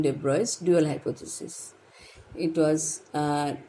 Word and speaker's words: de Broglie: is also pronounced at the boys libraries actual pronunciation debris dual hypothesis it was uh formed by louis